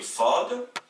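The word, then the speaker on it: ص: Donc, nous avons la lettre S qui s'appelle Sin en arabe et qui s'oppose à la lettre emphatique qui se prononce avec une voix grave qui est le Sad.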